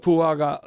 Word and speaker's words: Fuaga: here so uh and then you look at fuaga um did I pronounce his name right yeah yeah okay he's